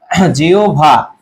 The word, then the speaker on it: জিহ্বা: তাহলে জিহ্বা এর উচ্চারণটা কি হবে বলতো, জিহ্বা।